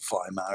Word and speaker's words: Weimar: up in the German town of Weimar, or Weimar as the Germans would pronounce it.